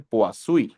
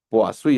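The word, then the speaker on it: Poiseuille: cómo se pronuncia y me han dicho la mayoría que que que le he preguntado, pues ha habido variantes ahí, pero la mayoría me dice puas. Poasuí. Vamos a ver el nombre. Puasí.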